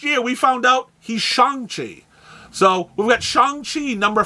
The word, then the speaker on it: Shang-Chi: Since the 60s, we've been calling him Shang-Chi. But last year, we found out he's Shang-Chi.